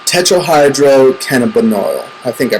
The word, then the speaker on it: tetrahydrocannabinol: Anyways, weed is very popular because it contains a drug called tetrahydrocannabinol. I think I pronounced it right. Tetrahydrocannabinol.